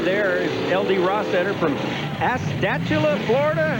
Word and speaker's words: Astatula: Rostetter from Astatula, Florida. How do you pronounce that?